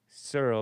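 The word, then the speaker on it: Searle: Surl.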